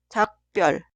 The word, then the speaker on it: 작별: La sílaba una termina con 기역 y la sílaba dos inicia con 비읍. Y esta 비읍 se pronuncia como 쌍비읍. 작별, 작별.